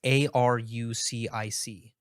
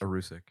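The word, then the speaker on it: erucic: So vegetable oil is actually high in, I don't know how to pronounce this, but it's Arucic. Maybe Arucic? Arucic.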